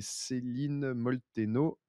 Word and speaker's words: Céline Molteno: C'est Céline Molteno. Céline, ça s'écrit pas comme en France, ça s'écrit SelenE et Molteno, Molteno.